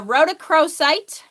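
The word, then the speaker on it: rhodochrosite: aola rose quartz Emerald I really like a Roc cro site which is spelled r h o d o c r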